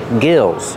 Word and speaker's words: gills: Pronunciation, use the short I like this is. Gills.